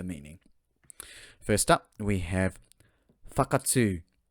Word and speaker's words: Whakatū: Alright, pronunciation first, then we get to the meaning. First up, we have Fakatsu, Fakatsu.